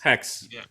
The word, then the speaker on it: HAEX: It's HAEX, so like Hex or Hex or Hex. Is it just Hex? Hex. Yeah. You just ignore the A.